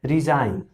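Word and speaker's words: resign: तो जब भी एन से पहले जी होता है तो जो जी है वो उसको साइलेंट माना जाता है, उसको चुप माना जाता है। जैसे ये लिखा है रिजाइन, तो रिजाइन यानी कि इसमें जो जी है वो साइलेंट है। उसी तरह से डिजाइन, तो डिजाइन में भी जी साइलेंट होगा।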